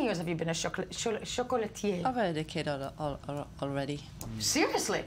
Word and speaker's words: chocolatier: We are joined in studio by, how do you say, chocolaterie? Chocolatier. Chocolatier. Not even pronouncing the R at the end.